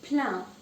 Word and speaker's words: plein: So the next word is plein. Plein means full. Now you see that the spelling is E-I-N. Even though it's E-I-N, it's not pronounced any differently. I-N is pronounced as un. So it is plein.